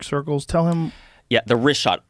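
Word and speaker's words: Richat: The rishot.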